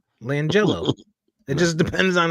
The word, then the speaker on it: LiAngelo: LiAngelo. Langelo. It No, just depends on how you read it. no. It's spelled Liangelo. Langelo.